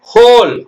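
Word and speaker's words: whole: இல்லை பாருங்க அது எப்படி படிக்கணும் wh ol e ஹோல் ஹோல்னா முழுசும் ரிஸ்ட்னா சொல்றோம் ரிஸ்ட் வாட்ச்ன்னு தான் சொல்லணும்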